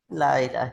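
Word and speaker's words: لا إله: দেখেন, লা ইলাহা এখানে আমরা টান দিচ্ছি, কিন্তু যখন আমরা এমনি পড়ি কোনো টান দেই নাই। জি না। লা ইলাহা ইল্লাল্লাহ এরকম হয়, তাই না জি?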